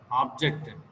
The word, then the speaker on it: object: The first syllable receives.